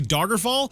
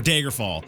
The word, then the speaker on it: Daggerfall: whatever I keep one it's a dagger fall or Daggerfall it's da da Daggerfall there we go these people keep getting on me about my pronunciation of dagger there we go and